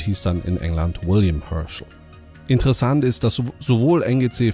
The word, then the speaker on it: Herschel: hier sehen von wilhelm Herschel also ja jetzt habe ich den Vornamen Deutsch den Nachnamen englisch ausgesprochen das war in